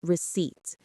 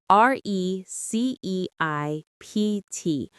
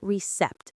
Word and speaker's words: receipt: And the last word is receipt. R E C E I P T. Note that the P is silent. We say receipt, not recept.